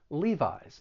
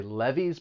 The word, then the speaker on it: Levi's: they make jeans and both of the vowel sounds they're they're long vowel sounds leave eyes sometimes i've heard people say levees but just remember it's a long e levi's then we have bows